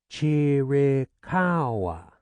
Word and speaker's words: Chiricahua: "Chiricahua," she said slowly, emphasizing the cow.